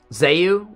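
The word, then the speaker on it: Zeu: It's how it's pronounced. It's spelled Z-E-U.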